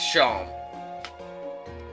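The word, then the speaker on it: Seam: square uh talk about yourself the name scene pronounced sean and this is my little c over the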